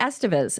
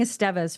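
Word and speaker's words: Estevez: interviewed Amelia EST Estes it's actually Estes oh it is I was saying estas for a long time too and maybe it's just pronunciation if you actually speak Spanish you know what I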